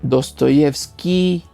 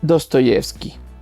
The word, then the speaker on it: Dostoyevski: el diptongo ruso y que se pronuncia aproximadamente y o sea dostoievski y dice dostoievski en este sentido también la